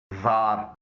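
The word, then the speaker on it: czar: जार, रूस में शाही खानदानों को जार कहा जाता था, इसमें सी के फौरन बाद जेड आया है, इसको पढ़ा नहीं जाता।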